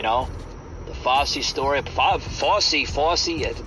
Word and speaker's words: Fauci: the FY story FY FY that's how you say his name I can never say his name right FY uh F Au